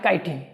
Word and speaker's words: chitin: देखो अंग्रेजी देखो इसकी भैया, इसकी अंग्रेजी क्या है, ये है CHITIN, ये क्या है, काइटिन, ठीक है। हम क्या सोचते हैं किसी स्पेलिंग शुरू हो जाएगी, लेकिन ऐसा हर बार जरूरी नहीं होता।